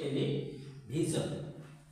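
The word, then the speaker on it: television: confusion confusion যেমন conclusion conclusion এটা হচ্ছে টেলিভিশন টেলিভিশন আমরা যেটাকে বলি টেলিভিশন সেটার সঠিক উচ্চারণ হবে টেলিভিশন কারণ এই যে এস আই ও এন এর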